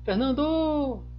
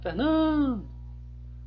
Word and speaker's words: Fernando: Você vai chamar Fernando! Não, se chama Fernando! Então você faz uma força maior, né? Um prolongamento aqui onde é a sílaba tônica.